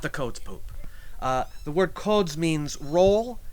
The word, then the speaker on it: Codz Poop: And sometimes you'll see it's Poop spelled with one O, sometimes with two, and that's why you hear people sometimes referring to it as the Codz Poop, but it's not the Codz Poop.